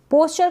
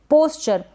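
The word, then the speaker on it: pasture: पास्चर, इसको हम पास्चर पढ़ेंगे, पैस्चर ना पढ़ें।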